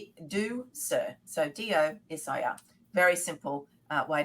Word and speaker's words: Ducere: it's spelled Ducure, but it's Latin for to lead, and it's do sir, so DOSIR.